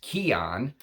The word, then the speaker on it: C'i'aan: right there C apostrophe I apostrophe a-a-n it's pronounced Keon and there's a little blurb about it and